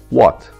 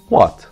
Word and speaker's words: what: What? V sesi üst dişlerimizi alt dudaklarımıza götürerek çıkarmış olduğumuz bir ses. Ancak W harfi İngilizce'de Türkçedeki V gibi telaffuz edilmiyor. Genelde bu soruyu sorarken düşülen hata da bundan kaynaklanıyor.